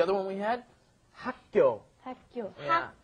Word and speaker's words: 학교: 학교. Yeah. 학교인데, originally it's 학교, but when we say it, it ends up becoming 학교, 학교, 학교.